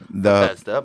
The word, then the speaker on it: Bethesda: He supported another part of Dave Lipton's theory that somewhere between Parkland and Bethesda, Bethesda, but whatever. I've only told you how it fucking is pronounced 7 times now.